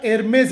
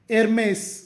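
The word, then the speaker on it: Hermès: ಎಚ್ ಈ ಆರ್ ಎಂಇಎಸ್ ಇದರ ಉಚ್ಚಾರ ಎರ್ಮೇಸ್ ಅಥವಾ ಏರ್ಮೇಸ್ ಅತ್ಯಂತ ದುಬಾರಿ ಬ್ಯಾಗ್ ಮತ್ತು ಫ್ಯಾಷನ್ ಬ್ರಾಂಡ್ ಏರ್ಮೇಸ್ ಅಥವಾ ಏರ್ಮೇಸ್ ಮುಂದಿನ ಶಬ್ದ ವೋಕ್ಸ್ವಾಗನ್ ಸ್ಪೆಲ್ಲಿಂಗ್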